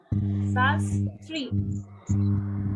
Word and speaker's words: Shastri: Mine is Shastri, so two again. Shastri. Two sounds, two syllables.